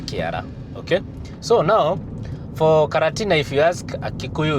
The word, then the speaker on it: Karatina: You see, Karatina is in Central Province, and the Kikuyus could not pronounce the word quarantine. So they pronounced it as Karatina. Karatina instead of quarantine.